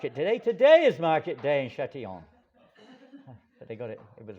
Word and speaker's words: Châtillon: How do you pronounce it? Châtillon.